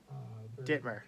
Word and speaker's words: Dittmer: Dittmer.